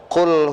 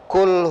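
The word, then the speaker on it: قل: ganti dengan huruf Kaf Qul huallahu Ahad mirip tidak Pak Mirip ya kalau tidak teliti Pak sama ternyata beda satu saya membacanya dengan huruf qf yang kedua saya membacanya dengan huruf Kaf pertanyaan saya ketika saya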